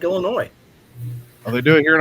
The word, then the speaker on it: Illinois: tear up roads let's see I've got an Illinois question since we got a couple of illinoisians on here why do y'all spell it with the damn ass on the end